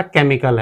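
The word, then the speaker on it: chemical: च चारकोल ऐसे हमारा यह हमारा केमिकल है। केमिकल केमिकल में इसे हम के पढ़ रहे हैं। सी एच को हम के पढ़ रहे हैं केमिकल।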